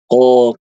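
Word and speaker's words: ق: Tapi kalau Ibu suaranya keluar, nah untuk bedakan Ibu Dwi dan ibu-ibu yang lain, suara kita ditelan atau tidak huruf qof-nya, bandingkan sama huruf kaf. Qo ka qa, maaf.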